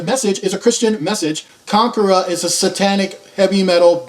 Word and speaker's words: Konkhra: by Kagura the message is a Christian message Conqueror is a satanic heavy metal band but yet